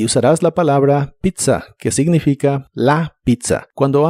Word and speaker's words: pizza: La primera Z se pronuncia como t y la segunda Z como s.